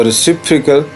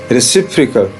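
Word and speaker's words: reciprocal: ये जो है अनस्ट्रेस्ड है यानी श्वास साउंड है, बहुत ही हल्का इसका साउंड आता है। तो रेसिप्रोकल, ठीक है, फिर से देख लें रेसिप्रोकल, रेसिप्रोकल।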